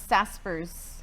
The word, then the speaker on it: SASPERS: So we're known as SASPERS. Okay. Yeah. Thank you. With the S at the end.